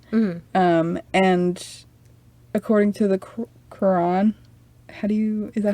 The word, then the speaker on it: Quran: And according to the Quran, is that how you say it? Yeah. Quran.